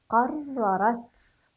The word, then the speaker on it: قررت: قررت قررت. أحسنتم، هكذا نقرأ ونلاحظ الحرف المشدد، قررت. هذا هو الحرف المشدد، نشدد الحرف عند قراءته، وهذه هي التاء المفتوحة، لا ننسى ذلك.